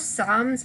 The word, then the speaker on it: psalms: of psalms so both psalms and soul star oddly do not pronounce the p and they are from